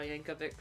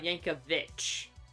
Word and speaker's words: Yankovic: For the longest time, I thought his name was Weird Ali Yankovich because it ended in ch. I thought it was the ch sound, but no, it's a c sound.